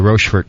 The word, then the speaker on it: Rochefort: Make sure I'm saying it right, Paxton. It is Rochefort.